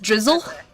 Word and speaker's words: Drizzile: Is it just Drizzle? Oh, weird. It's not spelled like that.